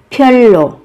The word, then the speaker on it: 별로: 별로, 별로, 별로. Một cách đặc biệt. Các bạn phát âm giống với âm L.